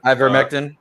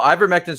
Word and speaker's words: ivermectin: specific drugs z-packs uh i how do you pronounce that i i grew uh i vermectin ivermectin right yeah individuals were utilizing i don't